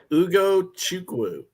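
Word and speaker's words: Ugochukwu: You got to pronounce his name. Say it for me again. Ugo Chukwu.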